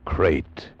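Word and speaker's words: krait: Tonight we escaped to India and the story of a man trapped in his bed by a crate.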